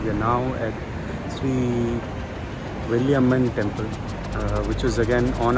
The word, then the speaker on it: Veeramakaliamman: It's actually pronounced Veeramakaliamman.